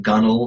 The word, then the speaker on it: gunwale: knew how to pronounce things like gunnell which is spelled gunwale yeah and I span